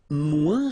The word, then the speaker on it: moins: And then, moins, same thing here. Remember, we don't pronounce the final S. Then you put the adjective que, than, and the rest of the sentence. Okay? Elle est moins rapide que moi.